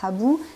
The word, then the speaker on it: Habu: Et donc, Habu, en plus dans le cas de Habu, en japonais ça se prononce Habu, et Hasse, il y a vraiment aussi, même leur nom même est très proche.